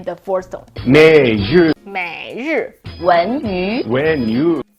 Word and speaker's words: 文娱: 文娱。 when you. So two of these second tones are pronounced as subtle fourth tones instead.